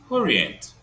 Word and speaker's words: orient: Orient has three syllables.